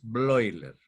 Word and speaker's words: Bleuler: gran psiquiatra alemán que se escribe bleuler con be bleuler ese diptongo ui en alemán suena hoy entonces broiler blair fue el qué propuso